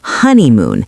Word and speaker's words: honeymoon: Honeymoon, the stress is on the first syllable, honeymoon.